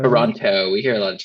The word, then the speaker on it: Toronto: So Well, if you're American, we say it with a D, right? Isn't that the thing? But Toronto. Toronto.